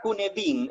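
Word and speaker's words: Cynefin: de harvard y que se pronuncia en realidad con edin es una palabra galesa que significa los múltiples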